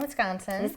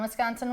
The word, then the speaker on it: Wisconsin: from yeah I'm from I grew up on Wisconsin's Danson okay is it really true that there's